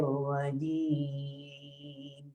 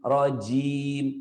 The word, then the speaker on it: rajim: Harusnya A'udzu billahi minasyaitonir rajim. Tuh. Beda jimnya tuh, ya. Rajim, rojim. Beda nggak tuh?